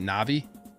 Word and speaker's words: Na'vi: W how do you say this is it na'vi yes Nai see water na'vi cosplay when we'll